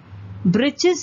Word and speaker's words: breeches: Breeches is nothing but breeches or short trousers. The writer here spells it for fun to rhyme with the word witches.